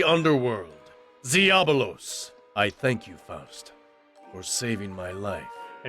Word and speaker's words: Faust: Oh, so they went with the usual pronunciation, Faust.